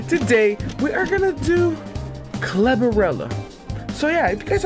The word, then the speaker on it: Cerebella: Cerebella. That's how you name. That's how you say her name.